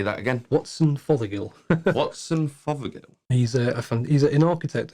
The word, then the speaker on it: Watson Fothergill: Watson Fothergill.